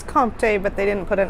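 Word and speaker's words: Comté: All right, this is the Comte Reserve. Comte? There's no accent on the card. I actually do speak French. I think it's Comte, but they didn't put an accent.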